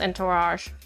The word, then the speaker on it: entourage: It's pronounced entourage.